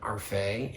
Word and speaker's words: Arfey: Arfey, and she let me mispronounce her last name so that Day rhymes with Faye, rhymes with Arfey.